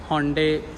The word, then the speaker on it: Hyundai: अब लोग इसे होंडाई भी बोलते हैं, योंडे भी बोलते हैं, लेकिन आपने अगर इसकी सही प्रोनाउंसिएशन चेक करनी है तो आप नेट से भी चेक कर सकते हैं। इसको होंडे या योंडे बोलते हैं।